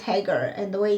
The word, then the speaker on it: Hagar: who is hager hagar i feel like saying her name is like hey girl but no it's haggar and the way it's